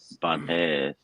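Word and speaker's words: Banhez: Banes. Banes Mezcal is the artesanal. way, yeah, Banes. Banes. Yes, Banes. Banes. The H is silent.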